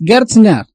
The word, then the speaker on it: Gerstner: ¿Lo estoy pronunciando bien? ¿Es Gerstner? Exactamente, es así. Así es el apellido.